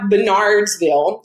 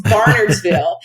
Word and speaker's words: Barnardsville: it's called barnardsville Uh I butchered the name forever because it does not look like it sounds it looks like Bernardsville but all the locals say I was saying it wrong it's barnardsville and she was telling me